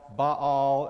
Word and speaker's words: Baal: In Elijah, you find this battle between the gods, Baal, as we call him in the South, Baal, as Vivian correctly pronounces it when we sing, Baal and Jehovah, Baal and the God of Israel.